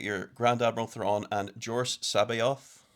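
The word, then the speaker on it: Joruus C'baoth: You get your Grand Admiral Thrawn and Jor Sabayoth, which I'm 99% sure is the correct way to say it.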